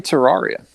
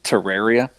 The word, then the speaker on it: Terraria: to say it wrong uh it's it's definitely Terraria it's actually pronounced Terraria but it's a um you know it's it's